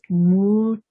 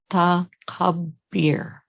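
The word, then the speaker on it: Mutakabbir: The divine name that I want to bring for this is Mutakabir. 4 syllables on this one. Mutakabir.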